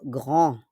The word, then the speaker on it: grand: Malaking puno po, grand. But you don't pronounce the D. On ne prononce pas le D.